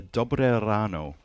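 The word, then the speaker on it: dobré ráno: Good morning in Czech is a dobre ráno. Dobre ráno. Dobre ráno. Dobre ráno, everybody. Yeah, so I try to roll my R's as much as possible. If you don't roll your R, it's dobre ráno.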